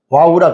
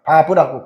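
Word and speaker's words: וָו: 여기게 와우라 그래요. 바브라고 그래요. 뭐 외라고도 하고 바라브라고도 이제 발음이 나눈 건데 여기에서 동사가 여섯 가지에 다이 와우로 이어지는 연속성을 강조하고 있습니다.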